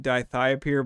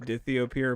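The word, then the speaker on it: dithiopyr: it has die i think it's pronounced dithy appear um not a sign but i think alan sometimes pronounces it di thiopeir but i think it's actually pronounced dithio pure but i could be wrong well shout out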